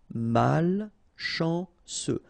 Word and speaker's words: malchanceux: Final X not pronounced ce mal chanceux.